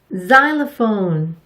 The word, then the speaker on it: xylophone: Xylophone. 이 단어가 거의 유일한 것 같아요. 우리말로는 실로폰이라고 하죠. 첫 소리에서 X의 발음은 Z로 발음되는 경우가 많아요.